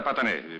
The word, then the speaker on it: Patané: Assunta Patané, P-A-T-A-N-E, con l'accento sulla E finale.